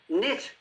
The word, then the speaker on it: knit: Knit. You're knitting with wool. Knit. Silent K.